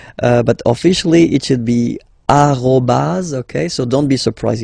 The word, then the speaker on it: arrobase: So officially we called it arrobase, okay, but then, well, let's be honest, we